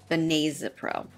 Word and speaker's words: benazepril: Now, when I looked this up in the Davis Drug Guide, technically the pronunciation is benazepril, but tomato, tomato, right?